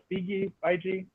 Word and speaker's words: Feige: And so what Marvel's done so well is Kevin Feige?